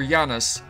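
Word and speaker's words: Janus: boy's name is Yanis I always used to pronounce it Janice but then I saw goldeneye and they had it pronounces Yanis in that so that's gonna why do that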